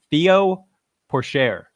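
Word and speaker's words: Théo Pourchaire: Flyer win of the week, and I'm going to pronounce this incorrectly. Theo Porcher, Formula 2 champ.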